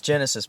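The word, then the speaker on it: Genisys: know did you love Terminator Genesis or genasis whatever I know it's Genesis by the way I just hate the spelling of it they spell it so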